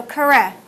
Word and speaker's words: curre: to run just Christina current oops no it's a short e so correct correct Christina correct now